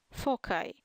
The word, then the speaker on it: foci: Ellipse is a set of all points in a plane with a constant total distance from 2 fixed points that are called foci, sometimes pronounced foci.